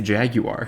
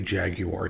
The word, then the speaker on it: Jaguar: opposite jaguar is is i tried intentionally to say jaguar jaguar yeah well it is jaguars the right way to say it and and jaguar